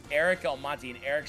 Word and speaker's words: Almonte: So it's Eric Almonte, and Eric spelled with a CK.